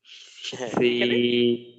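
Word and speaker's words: ث: পারে পারে আচ্ছা হ্যাঁ যেমন সা বলার সময় জিহ্বার আগা সামনের উপরের দুই দাঁতের আগার সাথে লাগবে উচ্চারণটা হবে সাবে হ্যাঁ মাশাল্লাহ সাম হা দাল জাল আল র যা সি এটা সারোয়ার ভাই যা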